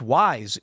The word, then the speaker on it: Weis: Weiss Markets is pronounced wise, good sir.